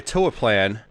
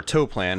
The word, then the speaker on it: Toaplan: It was one of those classics by Toaplan, or Toaplan, however you want to pronounce their names.